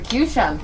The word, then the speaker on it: Qshan: So I took the suffix of the word nation, the Tion from the word nation, and spell it like I'm pronouncing it. Shan, nation, Okay. Shan. So the Qshan.